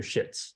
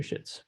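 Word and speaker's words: Schötz: her name is Dr shitz so but I prefer to say Schultz because at the uh it's got a Swedish o with the two um dots on top of it and I guess that's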